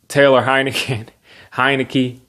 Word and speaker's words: Heinicke: Taylor Heinicke, that's how you say his name.